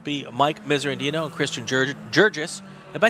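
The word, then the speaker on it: Guirguis: When he sent me his information, his last name is spelled G-U-I. Let me get this right. It's spelled G-U-I. R-G-U-I-S, and then he sent it to me. He says pronounced Jurgis, G-I-R. So I have no idea if it's Gur or if it's Jur. We're gonna go with Jurgis.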